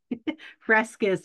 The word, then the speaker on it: Fresquez: Frescus, but that's good. That's how I used to Fresquez.